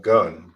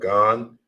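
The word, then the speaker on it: גן: And now we have Gan, not gun, but Gan, which means garden in Hebrew.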